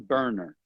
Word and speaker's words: Boerner: he's well qualified his name is Eric John burner it's spelled b-o-e-r-n-e-r so if you're going to search